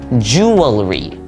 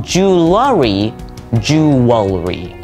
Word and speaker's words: jewelry: pronounce it jewelry but there isn't any vowel in between the L and the r at least in our